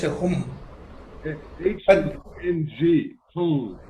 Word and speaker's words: Hung: H-U-N-G, Hum, like that kind of. Yeah, it will sound like Hung, H-U-N-G.